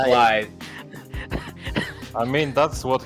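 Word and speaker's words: Blaidd: Blade, that's the Blade, Oh, big, Blythe. fluffy thing. The It's The a run Welsh is word. thing. It's a Welsh word, everybody. It's pronounced Blythe.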